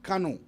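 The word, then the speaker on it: Karnue: Kanu. Grigia is spelled G-L-E-E-K-R-A.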